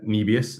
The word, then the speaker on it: Nebius: And in terms of Nebius, that's how you say it, it was fascinating to see like OSF and Mando, they both crushed this trade.